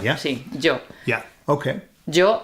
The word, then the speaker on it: yo: That's how people say Joe here in received pronunciation in in Spain. See Joe.